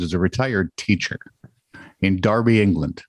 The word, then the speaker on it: Derby: a retired teacher in darby england which is spelled derby but it's pronounced darby and i don't understand